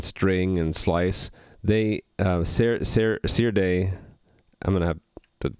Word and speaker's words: Serde: and u8 and string and slice they uh see your day i'm going to have to practice that pronunciation see your day we'll um provide a stock implementation of that